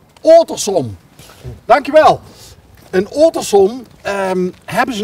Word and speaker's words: Ottersum: Hoe spreek je Ottersum uit? Ottersum.